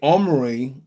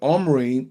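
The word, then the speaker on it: Omri: Wherefore all Israel made Omorray, say Omry, the captain of the host,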